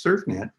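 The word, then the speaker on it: CERFnet: the third one was surf net out in San Diego and there's a it's spelled Cerf net and there's a whole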